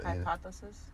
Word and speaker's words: hypothesis: It's Hypothesis. Thank you. I can't pronounce that word for shit just now, but.